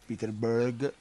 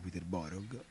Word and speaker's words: Peterborough: si gioca in casa contro il peter berg iscritto che il peterborough si pronunciano peterborough mamma a quito peterborough